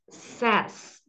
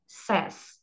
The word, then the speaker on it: says: Perceba aqui que é uma exceção, pessoal. Isso aqui é bom ficar atento, que muda a pronúncia, tá? I, you, we, they say. Agora, he, she, it says, tá? Então vai ficar com som de E, says.